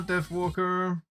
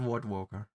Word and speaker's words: Death Walker: Hello, Death Walker. Death Walker was the name, not W Walker.